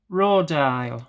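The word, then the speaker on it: Rodial: Right, so now we're on to this Rodile, that's how you pronounce it, Dragon's Blood.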